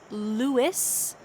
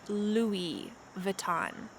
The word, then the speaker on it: Louis Vuitton: louis vuitton louis vuitton we do not say luis the s is lost instead we say louis vuitton nike nike adidas adidas